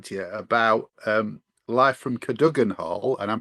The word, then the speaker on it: Cadogan: Speaking of cameras, we're here to talk to you about Live from Cadogan Hall, and I'm pronouncing it that way, Craig.